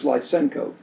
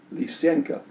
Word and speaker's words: Lysenko: Now, Lysenko is usually pronounced by people in the English-speaking world as Lysenko, but it should be pronounced Lysenko. I've listened to Russian-speaking people and Ukrainian-speaking people, and that's how they pronounce it, roughly speaking. I'm not fluent in those languages, but that's a better approximation.